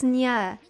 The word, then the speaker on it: Nyaehh: It's Nyaehh. It's like Nyaehh, like the Nyaehh from like Genshin. But it has N as in Nyaehh at the beginning of it.